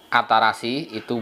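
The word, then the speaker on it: 新しい: bentuk penulisannya ini dibaca kalau kanji ini sendirian dibaca atarashii dudk belakangnya dikasih yg kasih gitu nah contoh penggunaannya ini seperti ini atarashi itu baru kalau di belakangnya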